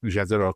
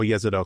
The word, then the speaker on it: Jezero: Gra in Gale and Jezero crater or Yzido crater I think it's pronounced it's also why we're